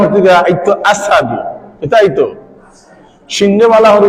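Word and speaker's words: أشهد: আঙ্গা ঢুকাইয়া জিহ্বারে জ্বালা নিছে যার কারণে তাই উচ্চারণ করতে আইতো আশহাদু কিতা আইতো সিংহে ভালা করে উচ্চারণ করতা না হইতা আসসাহাদু জিহ্বার কয় আশহাদু কিতা না হইতা আশহাদু জিহ্বার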